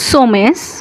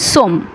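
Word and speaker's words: sommes: O double ME এস উচ্চারণ হওয়ার কথা ছিল সোমেস কিন্তু উচ্চারণ হচ্ছে সমম নুসম নম মানে আমরা অর্থাৎ উই আরজেদ দর্শক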